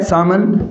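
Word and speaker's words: salmon: अब मैं बात करूं तो इसका उच्चारण क्या है साथियों? सामान क्या है? सामान।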